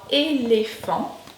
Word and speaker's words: éléphant: Alors on a le E accent aigu qui se prononce et, comme dans éléphant, et, éléphant. Le E accent grave qui se prononce plutôt est, comme dans père, et père.